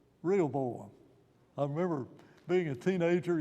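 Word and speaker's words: Rehoboam: the first king well it Nam rhymes with jeroboam could you could you sort of guess could you sort of guess what his name is real boam I remember being a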